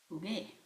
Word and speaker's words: jugué: We add, this is a gar verb, so we have to add the U so that we have the hard G sound, or else this G would make a H sound. So jugué, G, like the G in the original infinitive form, jugar.